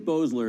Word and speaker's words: Boesler: I think Boesler is the way he pronounces it.